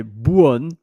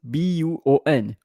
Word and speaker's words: buon: And so that in Italian you say buon, B-U-O-N, buon, and then giorno.